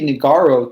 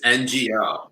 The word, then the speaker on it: Ngo: No, it's NGO. The G is silent.